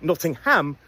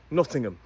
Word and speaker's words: Nottingham: It's a schwah and a Don't release that M.